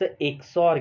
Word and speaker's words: XOR: सो जैसे कि आप प्रोनाउंस करते हैं, इट्स एक्सॉर गेट।